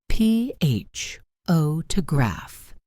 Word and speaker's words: photograph: PHO to graph. First syllable.